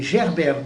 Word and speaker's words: Gerbert: Manessier, un certain Manessier, et puis alors un certain Gerbert de Montreuil, comme ça se prononce Gerbert, le prénom, et de Montreuil.